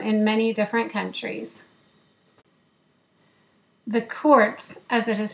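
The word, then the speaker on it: Kurc: The Kurtz, as it is pronounced in Polish, are a very close family with strong Jewish roots.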